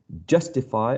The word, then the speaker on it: justify: exercise like this so justify as the first syllable is the one that carries the stress we can use uh capital letters for j u s and um in that way we're showing that the first syllable is the one that is uh the one uh bearing the stress the primary stress perfect exactly you got